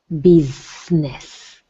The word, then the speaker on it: business: Now I want you to say the word business with a Z. Bizness. That's it. Not B.